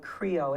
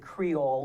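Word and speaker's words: Krio: Sierra Leone is a language called Creo it's spelled k-r-i-o a lot of times people confuse it with Creole which is what's spoken in Haiti right but it's not it's k-r-i-o Creo but the language of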